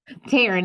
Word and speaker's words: Taryn: Taryn. It's like Karen, but Taryn. with a T.